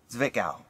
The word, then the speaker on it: Zwickau: I looked this up how to pronounce it. Zwickau.